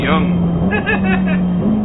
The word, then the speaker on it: Jong: Ronald de Jong. Ronald de Jong. No, Ronald. That's how the British say it. And you're wrong. Yeah. No, it's Young. Not wrong.